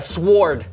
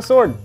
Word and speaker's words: sword: Okay, I'm gonna go with a sword. Okay, the W is silent. Okay, here we go. What? That's where that went. Not a sword.